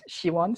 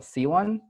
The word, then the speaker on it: Siwon: sounds great I know in Korean and she won so it's like a she sound she she won yeah you can say quickly I call myself c1 which is wrong pronunciation but I just got